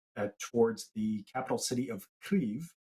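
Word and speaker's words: Kyiv: so troops have slowly been advancing move towards the capital city of cleve which most people pronounce as kiev i was corrected just before the show um they have taken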